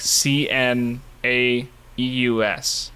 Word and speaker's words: Cnaeus: There's this like name in Latin that is spelled like C N A E U S. Something like that. And it's pronounced Cnaeus.